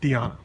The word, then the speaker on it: Tiana: people to call me I went by Diana and that was fine so I don't correct people but uh Albanian was my first language that's our ethnicity we use the Latin pronunciation and that's what I use Tiana Tiana very good thank you